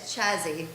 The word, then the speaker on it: Chazzy: Pronounced is the type of, it's more like a sneeze. It's Polish. It's Polish, the Polish sneeze. Chazzy.